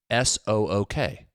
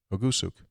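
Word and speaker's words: Ugusuk: OO-GUHSOOK. Do it again. OO-GUH. Ugu. Ooh or O? Keep going. SOOK. S-O-O-K. Soak. Ogusuk.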